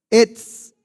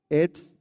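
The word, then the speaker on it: עץ: Etz, ETZ es árbol. Y cuando decimos bueno, Todo. top. Etz, top.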